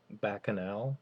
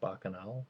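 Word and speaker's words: Bacchanal: to go to the bakanal I think that's pronounced bakanal Buffet which if you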